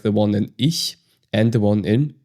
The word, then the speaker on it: ich: We pronounce this in a very special way. For example, we have the phrase ich.